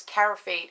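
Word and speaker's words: Carafate: doesn't burn anymore because caraphate is such an amazing med it's exactly how you say it is exactly how it's spelled c-a-r-a um f-a-t-e sorry i forgot how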